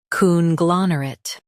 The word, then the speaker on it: conglomerate: Coon, glon, rit, conglomerate, coon, glon, rit, conglomerate. Emphasize gla and soften mer.